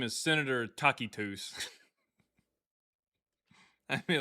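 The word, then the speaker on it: Tacitus: Uh, well, that's how it's pronounced in Latin. Actually, in in Latin is takitus.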